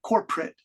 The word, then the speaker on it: corporate: corporate collapses yes corporate we have just for now two syllables corporate corporate corporate collapses